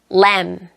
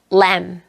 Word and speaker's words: lamb: climb, climb, lamb, lamb. 스 단어가 묵음이 되는 단어들을 보도록 할게요.